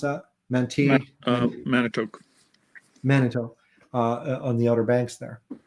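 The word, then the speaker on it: Manteo: How do you pronounce that? Manitoque. Manitoque, on the Outer Banks there.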